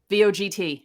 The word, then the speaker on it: Vogt: else what's his name vogt how do you say that uh stephen right vote vote is that what you say his name yeah vote voguita yeah they lost